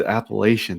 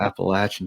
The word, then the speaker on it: Appalachian: I was like, that's not how you say it, but it was Appalachian. That's what he said. He said the Appalachian Trail, and I had to bite my tongue. It's the Appalachian Trail, buddy.